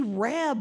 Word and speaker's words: rabe: But they had something called a pulled pork sandwich with broccoli rab on it.